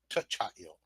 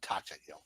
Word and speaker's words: Tachail: Just so you know, you're pronouncing his name wrong. It's Tachail, not Tachail.